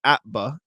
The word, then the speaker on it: APBA: baseball for the APBA, pronounced APBA, not spelled out.